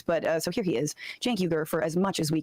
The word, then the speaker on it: Cenk: uh Jank comes in Jank comes in um I always want to say his name wrong because it starts with a C I'm I'm not good